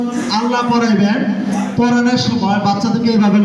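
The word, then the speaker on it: الله: আল্লাহ শব্দের ডাইনে, জবর অথবা পেশ থাকিলে, কি করিয়া পড়িতে হয়, পুর মানি মোটা, বারিক মানি পাতলা। সবাই পুর করে উচ্চারণ করেন আল্লাহু আকবার।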